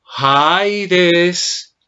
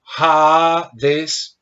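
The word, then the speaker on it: ᾍδης: Cuando digo Haides, Haides o Hades, como lo quiera pronunciar, pronunciando la iota o no, cuando lo pronuncio de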